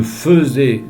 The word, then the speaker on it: faisais: La prononciation est différente. L'orthographe ne l'est pas tellement différent du verbe faire. Donc, vous ne trompez pas, même si vous entendez un E.